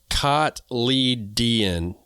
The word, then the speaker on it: cotyledon: they spelled it phonetically, cotyledon. Yeah, I wasn't going to be there. Mm-hmm. Yeah, it's spelled, the phonetic spelling of it is Kotleeden. So we'll say seed leaves